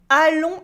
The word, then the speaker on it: allons: Allons à Coutances voir le jardin d'Yvon. Allons à Coutances voir le jardin d'Yvon. Here in allons we have the on sound, the S is silent in allons.